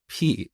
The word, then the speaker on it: pi: concept of constants, but I pronounced this word as p instead of pi. And believe it or not, to this day, people make fun of me for saying p instead of pi. But that's how we learned this back in Iran. We pronounce it as p, and I think Greek people also say p.